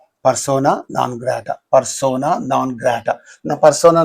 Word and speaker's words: persona non grata: Persona non grata. Persona non grata.